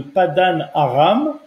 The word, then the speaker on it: Padan Aram: Alors, les Arabes ne prononcent pas le P, mais il s'agit bien sûr de Padan Aram, donc une ville qui est également mentionnée dans la Torah. Padan Aram, c'est une ville qui